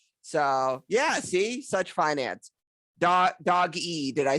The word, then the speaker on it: Doge: So Yeah, it's pronounced Doge. Doge. Say that Doge. again. Doge. Okay. With Doge. the like the J sound kind of.